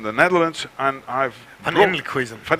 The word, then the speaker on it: Elkhuizen: I'm from the Netherlands, and I've Van Elkhuizen. Van Elkhuizen. Why? Yeah, it's the Dutch like pronunciation for that.